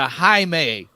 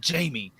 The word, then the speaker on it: Jaime: many I mean yeah YouTubers calling this man Jamie yeah we're gonna see Jamie in a movie it irritates me so much I don't know